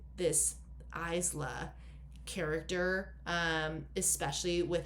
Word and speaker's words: Isla: also to learn that her name is meant to be pronounced Isla.